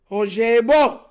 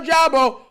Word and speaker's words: Ojabo: But y'all remember when we drafted David Ojabo. Not Ojabo, Ojabo. That's how you pronounce it.